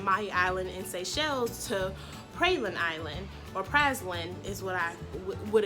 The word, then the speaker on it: Praslin: Praslin is how they say it here.